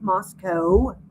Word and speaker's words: Moscow: Moscow because I'm from Moscow and it's not there's no cow in Moscow. It is pronounced Moscow.